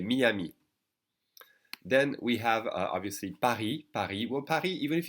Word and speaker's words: Paris: even if you say Paris I think people will understand because they're so used to hearing Paris from English speakers yet you should know that you don't pronounce the S and so it is